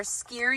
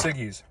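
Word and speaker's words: Siggi's: snacks we got our skier yogurt I finally know how to pronounce it you said skier isn't it skier no it's siggies I know but it's siggies skier oh it is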